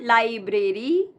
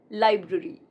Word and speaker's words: library: It's not library, but library.